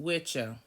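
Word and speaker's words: wicce: It's the phonetic spelling of witchse, W-I-C-C-E, pronounced witcha.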